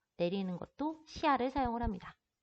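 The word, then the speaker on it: 下: 시아, 시아. 얘를 한 글자처럼 시아라고 빠르게 발음을 하게 되면은 얘는 아래라는 뜻이 아니고요.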